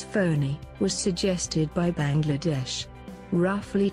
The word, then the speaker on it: Fani: just south of Puri the name Fanny which is pronounced as phony was suggested by Bangladesh